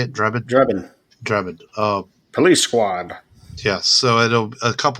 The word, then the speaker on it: Drebin: Drebin.